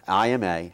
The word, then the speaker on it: Ima: n e and so if you pronounce that like I'm a June bug and I said this